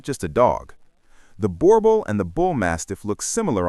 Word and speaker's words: Boerboel: The Boerboel, pronounced Boerboel, is South African, descended from Dutch and German settler dogs that were crossed with indigenous African breeds over centuries.